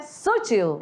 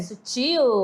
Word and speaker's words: sutil: Não é sutil. É sutil.